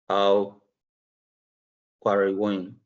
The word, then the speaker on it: Al Qarawiyyin: The oldest university in the world is Al Qarawiyyin. That's pronounced correctly.